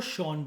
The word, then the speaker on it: Sean: सीन को शॉन बोलते हैं, SEAN की स्पेलिंग को शॉन बोलते हैं।